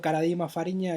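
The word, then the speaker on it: Karadima Fariña: del estado clerical a Fernando Caradima Fariña, se pronuncia así, Fernando Caradima Fariña, el obispo chileno, de que fue hallado culpable por abuso sexual.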